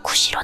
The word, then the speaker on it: 구지: 그때 구지 언덕에서 이상한 소리가 들려왔다. 여기 사람이 있느냐? 우리들이 있습니다. 내가 있는 이곳이 어디냐? 구지라는 언덕입니다. 일본서기에는 이 구지가 구시로 나온다. 그러므로 구시라고 고쳐 부르겠다. 구시가 당시에 제대로 된 발음이다.